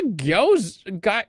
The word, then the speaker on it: gyoza: She's like, "What's a gyoza?